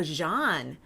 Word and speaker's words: Jean: Oh, Jean. Okay, like it's French. Yes, Jean, of course.